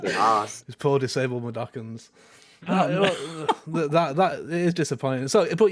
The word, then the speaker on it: Mudokons: The Mukadons? Mudokons. Is how you pronounce it? Mudokons.